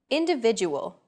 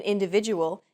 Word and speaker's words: individual: Individual. The stressed syllable V in individual is deemed more important.